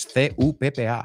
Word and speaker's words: cuppa: o café, pero es C-U-P-P-A, cuppa. Cuppa. Yeah, we don't say the of. We say the of as a.